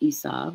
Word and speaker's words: Esau: And we are about to see the birth story of Esau, pronounced Esau if you're reading the Hebrew, the name meaning hairy, and it's from a root word, Asa.